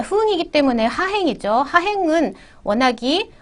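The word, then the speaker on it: 分: 흥이라고 기본 발음을 합니다. 자, 흥이기 때문에 하행이죠.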